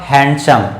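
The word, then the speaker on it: handsome: क्या बोलते हैं सिस्टम लेकिन यह डिवाइडेड ओं साइलेंट होगा और इसका उच्चारण हुआ हैंडसम क्या है शंख मेरे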